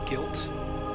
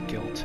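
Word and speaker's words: Gylt: games that are available for the PlayStation series guilt it's spelled g ylt and song of Noo-noo A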